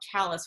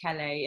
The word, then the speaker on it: Calais: in a town called chalice which is right on the Canadian border it looks like Calais and I speak French so to me it should be pronounced Calais and the fact that